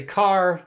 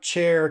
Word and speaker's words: char: You can say car, chair, care. These are all acceptable pronunciations.